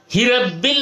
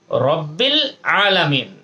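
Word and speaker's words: رَبِّ ٱلْعَالَمِينَ: এ আলহামদুলিল্লাহি রব্বিল আলামিন এটার উচ্চারণের মধ্যে হিরাব্বিল উচ্চারণ যেন না হয় এদিকে একটু খেয়াল করতে হবে হিরাব্বিল আলহামদু লিল্লাহি রব্বিল আলামিন কথা খেয়াল করতে হবে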